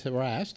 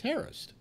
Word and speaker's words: harassed: deal no I'm saying everybody says harassed and it's Harris it's the actual pronunciation of the word but you know I